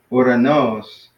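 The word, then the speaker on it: οὐρανός: And then another one with the accent at the end would be uranos. Uranos. So that'd be similar to adelphos, where the accent is at the end. Adelphos, uranos. Uranos. Yeah, uranos. Yeah. So yeah, just try to practice that. Make sure you're putting the accent on the end on the last syllable.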